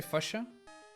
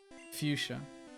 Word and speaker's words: Fuchsia: We don't have the Y sound though. Maybe that's the reason why I didn't really think of that, or why I say it like that. Fuchsia. Which is kind of dumb because the I is after the CH, right? So what is wrong with you guys? You're the one saying it wrong, not me. You guys don't know your own language.